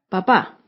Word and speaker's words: papá: primera sílaba papa con la segunda palabra papá tiene tilde que indica que el acento está en la última sílaba papá por lo tanto es